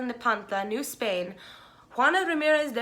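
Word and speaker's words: Nepantla: was born um in san miguel nem pontla i think is how you say it san miguel nepanta new spain juana ramirez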